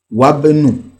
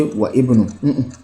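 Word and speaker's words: وابن: Wabenu. You will not say wa ibnu.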